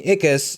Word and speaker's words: Ickis: Joe, Smurfs, and he's well known by us for voicing Ickis in the show, Real Monsters.